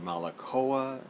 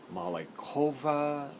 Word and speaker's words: Malekowa: Tradewinds you could say malik OA you could say mali Cova i it's not a real hawaiian word but if it were that's how you could pronounce different ways so this record my